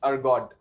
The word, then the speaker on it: Ergode: So the spelling is Ergode, Ergode. We pronunciate it as Ergode.